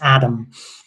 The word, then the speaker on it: Atum: So Atum could actually be pronounced Adam. There's no reason why that can't be the case from a linguistic perspective.